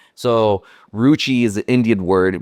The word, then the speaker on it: Roochii: So Roochii, I respelled it as ROO, kind of like Google, CHII.